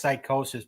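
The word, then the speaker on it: Psicosis: spell it right because it's pronounced psychosis, but there's no C in it.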